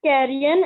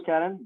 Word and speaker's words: carrion: is still alive is carrion and is lawful to eat. Yes, you are right. Okay. The word carrion or Karen, both pronunciations can work, but the word carrion or Karen means the decaying meat.